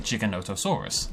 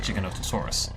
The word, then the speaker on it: Giganotosaurus: the discoverer of the Giga calls it and pronounces it Giganotosaurus. So to me, that seems like the right way to do it. I feel like it's more respectful of the original paleontologist to call it Giganotosaurus, because that's how he pronounced it, and that's